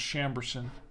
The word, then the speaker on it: Chambourcin: bardy a bardy and it's a chamberson Mero pronounced chamberson Mero this is a 2022